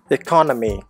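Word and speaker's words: economy: இன்னொரு example, எக்கானமி noun, அதில் செகண்ட் சிலபிளில் தான் ஸ்ட்ரெஸ் வந்தது. எக்கானமி.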